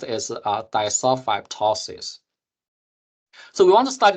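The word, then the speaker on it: disulfidptosis: pronounce it but basically this second D here is not pronounced so basically uh pronounced as duli tosis so we want to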